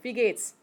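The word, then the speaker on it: Wie geht's: first word is V second word is pronounced Gates like Bill Gates okay put that together V Gates is a no but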